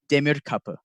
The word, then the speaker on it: Demir: it wrong uh but it is uh demur it's from it's a turkish origin i'll get it right